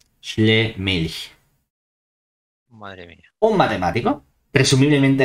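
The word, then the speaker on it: Schlömilch: Si somos muy formales y sabemos alemán, la O con dos puntitos es una OE, Schlemilch.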